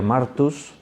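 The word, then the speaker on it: μάρτυς: lo decimos en castellano, la pronunciación en el griego sería martus, y los diferentes verbos que aparecen ahí, pues por ejemplo cuando dice ha dado testimonio es martureo.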